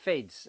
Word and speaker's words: Fiddes: this is the fids I think you can pronounce it fids it's fi ddees and it's fids now I spoke to